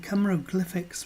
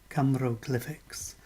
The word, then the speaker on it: Cymroglyphics: Camero as in Cymru, glyphics as in hieroglyphics. And some of us will know that Ross Broadstock coined the phrase when he wrote his book, Camero Glyphics.